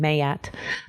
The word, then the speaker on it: Maat: So for my deck, I based it around an Egyptian principle called the 42 Ideals of Maat. Some actually pronounce her name Maat, but she is an Egyptian goddess, the Egyptians